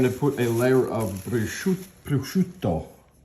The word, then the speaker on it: prosciutto: Okay, now we're going to put a layer of prosciutto. I'm going to say it like an Italian. Prosciutto.